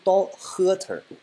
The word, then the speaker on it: daughter: 么读，美音的话是 daughter。